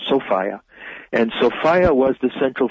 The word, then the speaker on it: Sophia: as a mythological being sophia that's the woman's name sophia but pronounced sofia and sophia was the